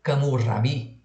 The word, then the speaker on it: Hammurabi: e nascido em Babel, Camur-Rabi, pronúncia em babilônio, foi fundador do primeiro